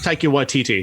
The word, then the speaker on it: Taika Waititi: I mean, hell, like you said, you got, how do you pronounce his name? Taika Waititi? Taika Waititi, yeah.